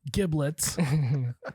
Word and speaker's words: giblets: Basically, giblets. Pronounce with a soft G. Soft G, gin. like yogging. No, giblets. It That's rhymes with Riblets.